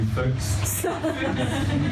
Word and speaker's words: Fücks: Harry Fox, everybody. Put your hands together. Actually, it's Harry Fücks. That's spelled F-U-C-K-S. I repeat, F-U-C-K-S.